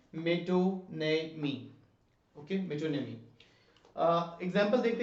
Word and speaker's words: metonymy: ये इसकी प्रोनाउंसिएशन है, मेटोनेमी।